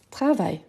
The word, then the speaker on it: travail: Donc, je peux dire par exemple, je conseille, il travaille. Donc, la prononciation, c'est la même. Conseil, conseil. Ici, en fait, ici, on prolonge un peu. Conseil, conseil, travail, travail.